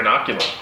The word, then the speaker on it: Inoculum: at the end of this month bro here inoculum that's right and he pronounced it correctly nailed it your noggin inoculated